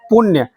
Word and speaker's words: पुण्य: जैसे आप फिर से बोल लीजिए पुण्य, पुण्य बोलते हैं तो कहीं ना कहीं नो जब उच्चारण करने लगते हैं आप तो आपका दांत यानी कि जीभ जो है तालु की ओर मुड़ने लगता है।